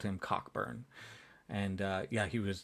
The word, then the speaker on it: Cockburn: You pronounced it wrong. No, it's Cockburn. Okay. Is it? I thought it was Coburn.